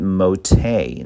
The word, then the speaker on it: MoTe: It's called MoTe.